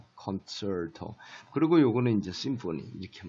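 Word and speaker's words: concerto: 그러면 요 이름을 요거를 갖다가 우리가 콘체르토, 치 발음이, 영어에서는 원어민들 발음이 치 발음보다는 이 발음이 강한데, 콘체르토.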